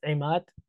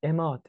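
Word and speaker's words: عماد: And the that I said, like my name is in Arabic is Imad, but in Persian it's Imad. It's just very soft, Imad.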